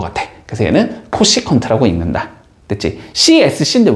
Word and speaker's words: 코시컨트: 근데 이걸 읽을 때 당연히 CSC라고 읽진 않을 거 아니야. 그치? 자, 그래서 얘를 우리는 뭐라고 읽어주냐면 코시컨트라고 읽어줘. 코시컨트. 됐지?